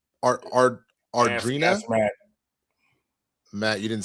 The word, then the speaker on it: Adria Arjona: Ardrina? Matt, you didn't say anything. Adria Arjona.